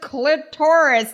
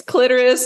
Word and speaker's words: clitoris: name was it Dolores I think clitoris Ryan's with clitoris Dolores I feel like that yeah I will tell you I've looked up like the pronunciation I only think that he did that for that show it's clitoris or you know I don't I don't hear another way of saying it right um and